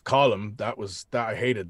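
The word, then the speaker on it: Colm: it's column or driscoll it's not calm but rockstar rockstar and their infinite knowledge thought you know americans mispronounce foreign words all the time i think we're going to go with comb and i went okay fair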